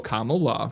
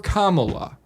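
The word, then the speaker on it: Kamala: all night Comm love think of the word comma and then add LA right so Comm LA right I voted for commala I thought it was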